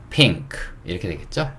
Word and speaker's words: pink: 때 BANK 읽을 때 NK로 끝나는 거는 요 N을 이응으로 발음한다 그랬어요. 그쵸? 그렇기 때문에 요 N을 이응으로 생각을 해야 되고, 그쵸? 그러면 핑크가 아니고 뭐예요? 핑크 이렇게 되겠죠?